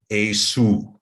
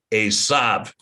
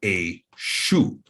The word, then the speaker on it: Esau: that, now you have Esu. So Esau is allegedly pronounced Esav, but really, without the Masoretic spin, it's pronounced Esu or Eshu.